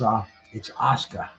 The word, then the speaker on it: Asuka: But of course, man, it's Asuka. And you have to listen to it pronounced that, because you look at it, Asuka, just like Oscar Mayer.